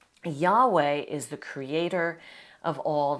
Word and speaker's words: Yahweh: The name of Israel's God you see here, this is pronounced Yahweh.